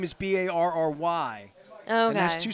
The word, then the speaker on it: barre: my son's name is b-a-r-r-y there's two syllables Barry you know like like I kept calling it Bari I didn't know how to call it bar just bar just the bar Raven cheerleader lemon years